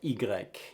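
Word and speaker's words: i grec: let's look at the letter e in french igrec ingrec is the name of it it's pronounced e but the name of the letter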